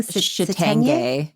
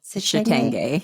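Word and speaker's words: chitenge: Can you pronounce that clothing? Shitenge. Shitenge.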